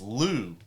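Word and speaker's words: Liu: Is it Mr. Kai? That sounds No, it's Lou. Lou, but it's spelled L UI. L I L I U. Yeah. Yeah. Yeah. Leu.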